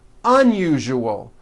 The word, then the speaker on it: unusual: Okay, now try unusual. Un-u-ju-ol. Unusual. Like that.